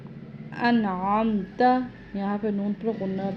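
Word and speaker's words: أنعمت: تو ادا کرنا ہے، یہاں پہ انعم انعم کرنا ہے، عین پڑھنا ہے، انعم نہیں پڑھنا۔ انعمت، یہاں پہ نون پر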